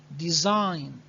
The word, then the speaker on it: design: design design design and i need you to take care that g is silent okay silent design okay embroidery embroidery look